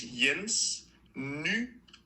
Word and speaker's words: Jens Nygaard: The creator of the minifigure It The first name is Jens Nygaard. And the two A's are like a goal.